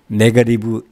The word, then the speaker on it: negative: negative 8 degrees. degree는 온도고 8은 8, 마이너스를 negative라고 그랬죠. negative는. negative인데 t가 몸사에 있으니까 발음을 약하게 해서 negative.